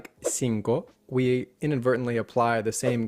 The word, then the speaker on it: cinco: In Spanish, that long O sound exists, but it's not blended into another vowel sound. Cinco. Cinco. Yeah.